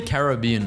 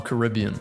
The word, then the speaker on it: Caribbean: Do you say Caribbean or Caribbean? So this person says Caribbean, but he pronounces Pirates of the Caribbean the other way. But I say Caribbean for everything. Caribbean, Caribbean. Drive from Europe to the US.